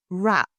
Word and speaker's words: wrap: Business situations often include words with silent Ws, like wrap, pronounced wrap and not wrap.